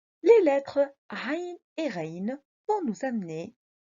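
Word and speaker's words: عين: Nous devons faire attention les enfants parce que on peut confondre la lettre Aïn avec une autre lettre Ha. Au lieu de dire A, on dit Ha. Nantabeh, il faut bien prononcer A, A, Ha, Ha.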